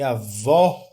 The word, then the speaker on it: avó: com acento agudo né a vó ela é mais aberta a vo ó ó a boca fica mais aberta e aí eu tenho